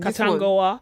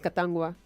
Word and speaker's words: Katangwa: Katangoa? Yes. They never say that. It's Katangwa. Oh, really?